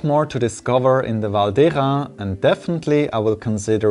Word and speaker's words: Val d'Hérens: has been taking over i assume that the pronunciation of this valley valdera roots in batwa itself reading the name in modern french would mislead one to pronounce it as valdejon i hope you've